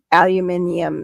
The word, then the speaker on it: aluminium: pronounce aluminum fil alumini yeah aluminium is how the English say it kit foil yeah much